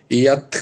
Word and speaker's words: यत्: তারপরে হবে ইয়ৎ করোষি, ইয়ৎ, ইয়ৎ খণ্ডত্ব, হ্যাঁ, ইয়ৎ করোষি, যত নয়, ইয়ৎ করোষি, ইয়ৎ করোষি, ইয়দস্নাসি, তালবস্য